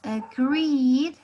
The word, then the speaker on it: agreed: Cuando ustedes vean palabras, cuando ustedes vean palabras que tienen una doble vocal, en este caso doble E, el sonido va a ser como el de una I prolongada, como si estuvieran diciendo I 2 veces, ¿sí? Es agreed. Vamos a hacerle un poquito más largo el sonido de la I.